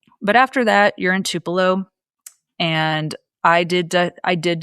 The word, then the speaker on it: Tupelo: I did not know how to say Tupelo before I got there. Um, I kept calling it like Tupilo and something else.